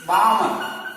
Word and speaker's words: Balmer: Next is Balmer. The L is silent. Not Balmer, Balmer series, n1 is equal to 2 and n2 is equal to 3, 4, 5, etc.